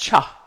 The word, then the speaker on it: Chih: called tai chi cha that third little word is pronounced cha like chuck wagon although it's spelled like c-h-i-h it looks like it should be pronounced chit but it's pronounced cha and tai chi cha